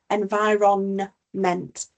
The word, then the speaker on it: environment: They have a a silent letter, the the N. verment environment. It's making sure that even though we don't necessarily pronounce the letter, we can still write it correctly.